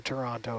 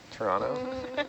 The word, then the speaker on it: Toronto: There's no T's in Toronto. Toronto? Not even the first letter. It's like a ch.